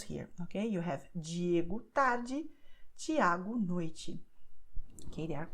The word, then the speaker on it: tarde: What is the same to say that E at the end of the word will be pronounced as I, like tarde.